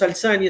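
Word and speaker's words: Al Thani: casa real que es la casa de los alzán y de verdad también se le llaman los alta ni verdad Pero la pronunciación pues más acertada en los alzani es una monarquía para lamentaria es un momentos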